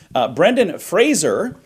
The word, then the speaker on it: Brendan Fraser: Brendan Fraser, that is the proper way to say Love his name, him.